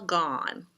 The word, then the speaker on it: gone: The candy is all gone, gone. And it has that silent E at the end.